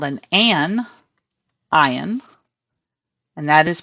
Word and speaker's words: anion: the number of protons, and it's called an anion, and that is pronounced anion.